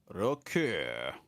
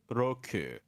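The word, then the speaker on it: 六: Roku. Roku. Roku. Roku. And then 7 also has 2 different ways of being pronounced.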